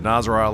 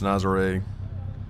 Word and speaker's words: Nazaré: I believe I said Nazaré last segment. I think that's wrong. Pretty sure it's Nazaré. At least that's as good as my American pronunciation can do.